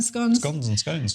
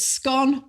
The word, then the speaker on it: scone: they like about um scones and we'll come back to you and at the end of the show i'm going to reveal if it's scone or scone in new zealand well no that's the